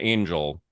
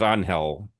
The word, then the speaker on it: Angel: Um, I I think even he pronounces his name Angel. I thought he was Anhell.